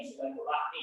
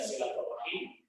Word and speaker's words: silaturahmi: Ketika kita bacanya rahmi, ya silaturahmi, ini sudah benar dari sisi bahasa Arab. Boleh dibaca silaturahim, boleh dibaca dengan silaturahmi. Dan Ar-Rahim atau kita bilang